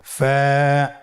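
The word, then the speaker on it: ف: ফা কফ কাফ লাম মিম নুন ওয়াও হা হামজা ইয়া। ফা হরফটি আপনারা স্ক্রিনে দেখতে পাচ্ছেন। ফা হরফটি উচ্চারণের ক্ষেত্রে বারিক হবে এবং এক আলিফ টেনে পড়তে হবে।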